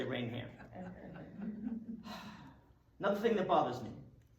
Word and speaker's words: Raynham: Right here in Raynham, because I know all about this controversy, how to pronounce the town. Raynham, Raynham, Raynham, Raynham. So I'm very careful I say Raynham.